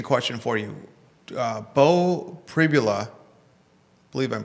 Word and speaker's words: Pribula: Uh Bo Pribula, believe I'm pronouncing his name right.